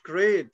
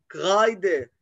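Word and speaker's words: Kreide: بيتا بيتا دي تو كرايد لا مش كريد لان الاي وراها اي تبقى اي كرايده كرايده كرايده دانك شكرا جزيلا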